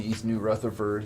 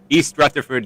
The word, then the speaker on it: East Rutherford: be again up in east new rutherford is that how you say it is it east no it's it's europe it's east rutherford new jersey okay yeah east river